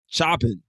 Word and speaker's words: Choppin: one hundreds in certainty am i pronouncing your last name right chopping chopping ah alright well alright like you know just like it sounds right yeah I want to